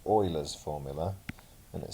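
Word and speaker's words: Euler: to pronounce this as ula's formula but it's actually German and so it's pronounced oa's formula and it says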